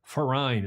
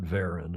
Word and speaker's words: Verein: to know that is the Norddeutsche Regatta Verein, as you would say auf Deutsch in German. Mm-hmm. And the V is pronounced like an F, and it's not Verein.